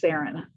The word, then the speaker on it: Saran: So Saran, it's spelled, my name is spelled like Saran wrap, but it's pronounced Saran. Okay, like Karen.